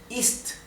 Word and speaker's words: ist: final de las palabras por lo tanto ist tiene que sonar muy claramente y distinguible la t ausland la d final tiene